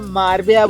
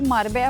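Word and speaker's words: Marbella: मारबेला इट्स मारबेला दो लोगों ने करेक्ट क्या कर दिया तो आप मारबेया बोल रहे हो इट्स मारबेला अरे पर मार्बला ऑफ कोर्स स्पेलिंग वाइज मारबेला होगा लेकिन यहां पे मार्बेला मारबेला एयरपोर्ट पे दो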